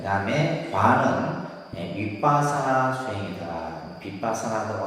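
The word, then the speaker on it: 위빠사나: 빗바사나라고 하고, 우리가 이제 뭐 윗바사나라고도 발음하기도 하는데, 따라합니다. 윗바사나 수행.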